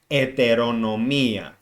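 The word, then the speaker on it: ετερονομία: autonomy which is heteronomy in greek the h is not pronounced so it is eteronomia as i said this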